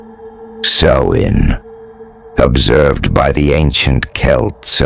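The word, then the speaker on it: Samhain: back to the Celtic Festival of Sam Hoin pronounced so in observed by the ancient Kelts of Ireland Scotland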